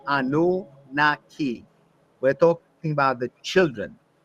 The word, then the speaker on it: Anunnaki: Commonly is pronounced Anunnaki, but I believe its Sumerian pronunciation was Anunnaki.